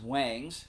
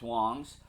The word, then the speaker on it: Wangs: You would think it's pronounced Wangs, but it's Wangs.